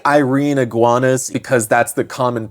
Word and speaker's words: Irene: And I'm saying Irene Iguanas because that's the common pronunciation, but I am always tempted to say Irene Iguanas, like Princess Irene from Princess and the Goblin.